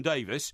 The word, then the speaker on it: Davies: praising me, particularly our new young boy Tom Davies, you told me... People say his correct pronunciation is Davies, by the way, not Davies.